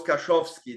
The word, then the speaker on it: Kaszowski: said, yes, it goes Kaszowski. That's it. Kaszowski. That's the only one I Kaszowski can Group.